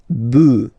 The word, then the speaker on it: bœufs: just add this S, but then pronunciation changes quite much, because you get des bœufs, all right, un bœuf, des bœufs, all right.